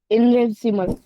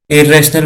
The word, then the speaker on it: irrational: इनरेसिमल। क्या? इनरेसिमल। क्या इनरेसिमल क्या होता है ये? अभी तो ये नहीं पता है कि वर्ड को प्रोनाउंस कैसे करना है। इरेशनल बोलते हैं उसको।